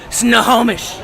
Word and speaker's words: Snohomish: We got a Darren LaRoque is cooking, so proud of you, and a good job on the pronunciation. You finally got Snohomish.